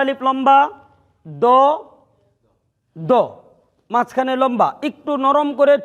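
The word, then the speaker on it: ض: তাহলে আজ থেকে সুয়াদ দুয়াদ, সুয়াইদ দুয়াইদ বাদ, সদ দদ। এই অক্ষরটি সবাই বলেন, আরো সুন্দর উচ্চারণ, সদ দদ।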